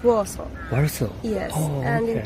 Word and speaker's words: Warsaw: That's how you pronounce? In Polish or English? In English? In English it's Warsaw.